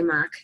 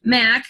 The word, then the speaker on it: Mack: And Heather Mack, I always say Mock, it's not Mock. Mack, I caught myself, Heather Mack.